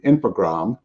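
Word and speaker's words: Infogrames: January of 2001 when infogram and you do you just dropped the es on the end on that French pronunciation um took over was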